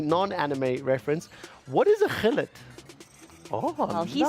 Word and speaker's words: Gullit: More importantly, non-anime reference, what is a Gullit? Oh, well, he says it properly, but from the English broadcast, it is Hullet.